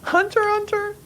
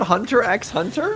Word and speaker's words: Hunter x Hunter: Alessandra Hunter right yeah Hunter Hunter yes that's how it said yes it's not Hunter x Hunter no wrong this whole that's how